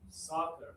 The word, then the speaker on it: soccer: Soccer.